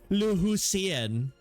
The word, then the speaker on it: Lucien: There's a canon way they're going to go into voice acting and they're going to say lusen.